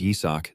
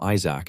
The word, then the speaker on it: Izak: Even though his name is Yisak, these guys always pronounce it wrong and call him Isaac instead.